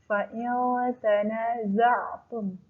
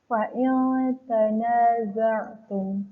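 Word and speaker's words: فإن تنازعتم: Hukum bacanya adalah ikhfa. Alasannya nun sukun bertemu huruf ta. Ya. Masih ingat apa aja huruf ikhfa? ada 15. Apabila nun mati atau tanwin bertemu salah satu hukum, salah satu huruf yang 15 dari huruf ikhfa, maka dia dibacanya samar-samar. Fa'il tanaza'tum, seperti itu ya.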